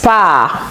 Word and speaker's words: Paar: Alors, le R n'est pas prononcé. Oui, il se transforme en A, prononcé brièvement. Das Paar. Das Paar. Oui, je ne dis pas das Paar, mais das Paar.